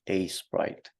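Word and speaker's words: Aseprite: to have can you say the name again a Sprite a Sprite yeah how do you spell that so it's a s e p r i t e a Sprite okay um so yeah and um for normal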